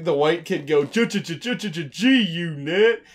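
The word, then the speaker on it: G-Unit: white kid go 222222 gee you knit and totally not hearing the g and thinking it's a tee oh and i think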